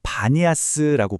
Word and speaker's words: Banias: 지금 이 지역을 아랍어로 바니아스라고 부르거든요. 이게 알고 보면 판, 신을 모시던 파네아스라는 옛 지명이 발음만 살짝 바뀐 겁니다.